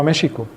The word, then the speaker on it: México: Y en el español antiguo se pronunciaba con SH o SH. Por eso hoy escriben México con X, porque antiguamente se pronunciaba México.